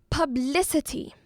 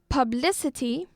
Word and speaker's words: publicity: Publicity. Publicity So we have publicity. This word has 4 syllables. As for the stress, it is on the second syllable.